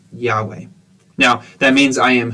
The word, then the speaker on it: Yahweh: do that in a second but uh it's pronounced Yahweh that is how you say God's name Yahweh now that means I am who I am